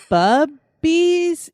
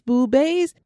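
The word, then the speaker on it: Bube's: Is it bubbies? Is it Boobies? boobies? It is boobies.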